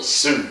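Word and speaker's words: Hsu: And Stephanie Su. She must be Korean or something. H is silent, yeah.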